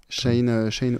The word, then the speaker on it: Sahin: Chahine. Voilà, c'est ça. Donc ça s'écrit SAHIN, plus loin.